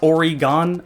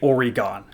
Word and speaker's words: Oregon: Midwest yes it's pronounced Oregon no it's not pronounced Oregon how did you get already gone there's not an e at the end of it why are you saying